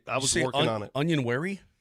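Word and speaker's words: Onyenwere: off my tongue I was working on it onion wary it's not an easy one still my favorite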